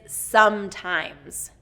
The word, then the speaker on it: sometimes: 1st syllable stress here, sometimes. And I have to say that a lot of these words, it's the stress that gets pronounced incorrectly and vowels. That tends to be the hardest part on these words. So sometimes we get that long I in times.